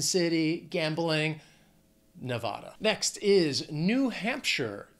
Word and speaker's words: New Hampshire: next is New Hampshire two words three syllables the stress is going to be on that first syllable in the second word looking at Hampshire now that last syllable it's not sh it's not like Frodo in the Shire it's sure New Hampshire New Hampshire I